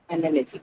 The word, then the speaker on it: analogy: So here, where will it be in that Then case? Uh, well, analogy. On the second one, right? That is analogy, correct.